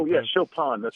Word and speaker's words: Chopin: Chopin? Oh, yeah, Chopin. That's Chopin.